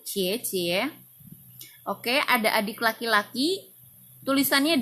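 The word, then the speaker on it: 姐姐: Mandarinnya adalah Ciecie Ciecie Biasanya kalau orang Chinese menyebutkan Kakak laki-laki itu kan koko kakak perempuan itu cici tapi dalam dialek bahasa Mandarinnya pengucapan yang benar adalah suku dan Ciecie Oke ada adik laki-laki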